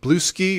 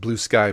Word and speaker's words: Bluesky: media Internet site sensation blue ski or blue sky I think it's pronounced blue sky blue ski sounds like a beer anyway this has I